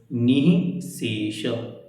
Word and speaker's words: निःशेष: इसमें सारे शब्द एकदम सरल हैं, बस आपको ध्यान रखना है विसर्ग जहाँ होती है वहाँ हा का उच्चारण होता है। निःशेष ऐसे।